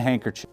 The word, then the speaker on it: handkerchief: been laid on the handkerchief, 2 opposite corners are seized. If this were the handkerchief, it would be here. Handkerchief? I keep saying chief. It's spelt chief. It's pronounced chiff, which really bugs me.